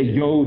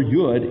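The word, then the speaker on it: יוד: You could say yod or yud and it's the same exact word. It's just the different types different colloquialisms of how they express it.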